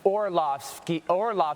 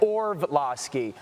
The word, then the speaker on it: Orlovsky: It's Orlovsky, not Orlovsky.